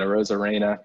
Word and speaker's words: Arozarena: Like you said, Arozarena, correct pronunciation, has been just lighting the world on fire, like another homer tonight.